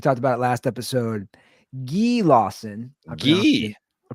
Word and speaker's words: Guy Lawson: Guy Lawson. I pronounced it incorrectly. He's Canadian. I pronounced it incorrectly last episode, but it's Guy Lawson.